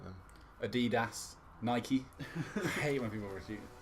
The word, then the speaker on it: Nike: yeah it's based on the Greek godess Nike it's actually Nike so there's some knowledge for you portion Porsche yeah does